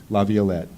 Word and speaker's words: Laviolette: how do you pronounce your name I've heard several variations I pronounced it wet Laviolette so I think I